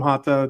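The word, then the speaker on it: Jota: So, And and I saw Mark I yeah he did um Jata I call him Hata because that's J is pronounced H in Portuguese but um but Jata all the same.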